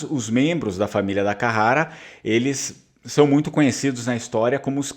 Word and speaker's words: Carrara: a família da Carrara Carara é uma pronúncia portuguesa né Se a gente for ver a pronúncia vêneta vai ser da Carara né dakara e o Italiano provavelmente ele vai fazer aquele r mais forte né da Carara e o Vêneto da Carara seria o mais adequado esses membros dessa